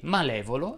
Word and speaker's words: malevolo: Fanno eccezione unicamente le parole benevolo e malevolo, la cui E va pronunciata aperta.